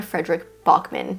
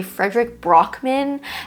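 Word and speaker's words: Fredrik Backman: Every time I say his name, I say Frederick Brockman, and then I have to edit it out and say Frederick Bachman.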